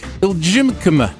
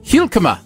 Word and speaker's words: Hijlkema: I'm going to say Iljimkema. Well, I don't have it in front of me, so yes. It's Hijlkema. Hilkema. I think the J is silent.